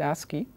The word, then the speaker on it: ASCII: This is typically pronounced ASCII.